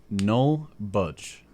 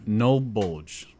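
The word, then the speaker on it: NullBulge: pretty crazy so this this group is called n budge no n bulge okay n bulge I'll spell that out so that's n u l l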